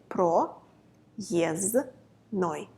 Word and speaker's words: проездной: the no but we don't pronounce the it is silent so we say it pro yes no it's easy right three is no say it